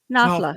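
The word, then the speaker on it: Knafla: No, The K is silent. Nafla.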